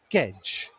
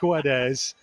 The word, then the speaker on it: Guedes: saying this for tomo's benefit technically it is pronounced gedge gonzalo gedge but nobody is going to call